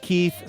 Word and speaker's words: Keith: It's our friend Keith Stone in Libertyville, Illinois. Keith says, here's how you pronounce Keith's first name. It's like teeth, but with a K.